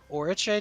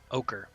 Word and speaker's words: ochre: of black jello or Oriche jelly. I'm not pronouncing that right. Ochre.